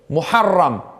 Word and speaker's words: Muharram: Muharram aslında onun tam telaffuz edilecek olur ise.